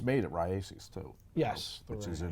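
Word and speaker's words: Raíces: tobacco comes from Honduras and it's made at rases too yes which is in Honduras yeah I say it right races races yeah okay uh I'm not really getting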